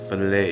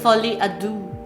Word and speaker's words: Folie à Deux: So, can you pronounce? Filet easy. It's Folie à Deux. Filet ado. Okay. Folie à Deux.